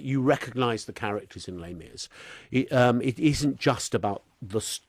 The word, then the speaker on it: Les Mis: Les Mis.